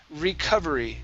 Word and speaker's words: recovery: one for you is recovery okay so instead of Reco R okay Rec so the O is going to be an uh sound and watch your R watch your tongue on